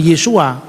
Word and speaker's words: Yesu: Yerusalem, ya mereka menamakan Yesua. Bagi yang percaya Yesus itu adalah Kristus, ya, Yesua Hamasiah. Tapi lidahnya Petrus, lidahnya Andreas pasti enggak bisa ngomong Yesua. Yesu itu cara pengucapan orang-orang Galilea.